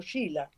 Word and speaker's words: Sheila: Por lo pronto Sheila también es un nombre irlandés y Sheila es la manera en que los ingleses lo escribieron para pronunciarlo Sheila. En realidad, en gaélico se escribe de otra manera.